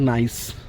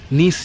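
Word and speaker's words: gneiss: এই যে যেটা হচ্ছে নিস যে পাথরটি, নিস বা নাইস যে পাথরটি, আমাদের বাংলা ভূগোল বইতে নিস লেখা হতো, এখন শুনছি বোধহয় উচ্চারণটা বোধহয় নাইস সঠিক উচ্চারণ।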